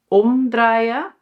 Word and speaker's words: omdraaien: "OMdraaien" = the emphasis on OM. So it is separable. And "omCIRKELEN"= so it is inseparable. Well, three basic sentence structures